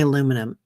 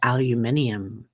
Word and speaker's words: aluminium: differently a few things like aluminum we say aluminum right they say aluminium and I'm like oo